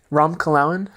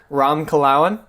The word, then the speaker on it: Ram: one more time how do you say it rom : rom : yeah that's good what it what is